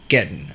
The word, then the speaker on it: Gaten: it Gaten or Godden? Gaten. Gaten. Okay.